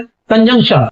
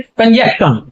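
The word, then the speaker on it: conjunction: और इसको कहते हैं कंजक्शन। तो ये कंजक्शन न होकर के ये है कंजंक्शन, कंजंक्शन।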